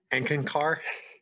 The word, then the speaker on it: Eckankar: You get an extra point if you can pronounce it well. Is it Enkinkar?